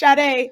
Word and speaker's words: Shadé: What's going on, Shade? Welcome to the Happy Entrepreneur Show. Hey, I just wanted to say it's pronounced Shadé. It's Dr. Shadé. Shadé. Oh, gosh. I keep saying Shade.